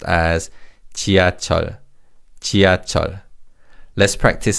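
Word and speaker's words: 지하철: So this word is pronounced as chia.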